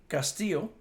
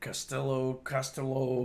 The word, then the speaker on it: Castillo: I watched my father on many occasions, particularly when they mispronounced his last name, Castillo. And I've heard Costello, and a whole bunch of other things.